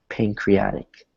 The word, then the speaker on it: pancreatic: So we don't say pancreatic, right? That would be a hard T. We say it like a soft T, which is more like pancreatic. It's soft. It almost disappears.